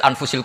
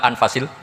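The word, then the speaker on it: أَنْفَس: Di sini ditulis anfusil kutub. Kalau saya baca anfasil kutub karena maknanya kitab ter baik. Kalau kitab terbaik bacanya bukan anfus tapi apa? Anfas.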